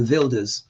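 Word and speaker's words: Wilders: well of course the Dutch and germ say Pronounce W as so vildor apparently he's been in politics for 25 years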